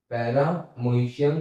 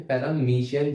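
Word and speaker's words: Paramecium: Example इसका है पैरामोइशियम या फिर पैरामीशियम, जो भी आप कहना चाहो कह सकते हो।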